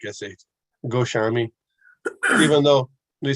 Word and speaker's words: Goswami: Yeah, six Goswamis. Goswami, because in Bengal mostly SH. Almost all S's are like SH. Goswami.